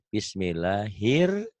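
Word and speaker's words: بسم الله الرحمن: salah dalam bunyi ya Ini bukan Ra tapi ro ini jadi harusnya di sini nulis nulisnya ya bukan bismillahirrahman tapi di sini Bismillahir hirnya Kan dari nyambar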